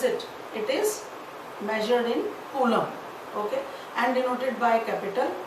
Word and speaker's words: coulomb: Okay, Coulomb. B is silent, coulomb.